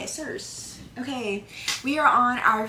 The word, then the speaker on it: Circe: I've had this book for years and I've never known how to like pronounce this. It's Circe.